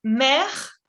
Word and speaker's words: mercredi: Ok, de nuevo, por sílabas. Mercredi. Mercredi. Encore une fois. Mercredi. mercredi. Parfait. La C y la R es el sonido, ¿ok?